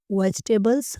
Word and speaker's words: vegetable: जो है व वेजटेबल इसकी सही प्रोनंसिएशन वेजटेबल है इसे आप दो हिस्सों